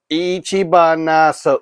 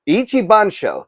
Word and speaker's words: Ichibansho: Odo Island ichib banso Ichi baso that's not right Ichi bans that's not right either ich ban show ich banso that's how you say it figure and I'm really